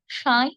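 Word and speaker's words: সাঁই: সাই সাই পন পন দুষেত্রেই স এর উপর চন্দ্রবিন্দু আছে আমরা সাই সাই বলব না আমরা বলব সাই সাই চন্দ্রবিন্দু যেহেতু আছে খানকটা নাকি সরে সাই সাই বন বন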